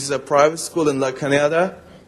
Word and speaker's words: La Cañada: I'm living in Pasadena, and I'm going to Flint Ridge Prep, which is a private school in La Cañada. Not La Canada. La Cañada.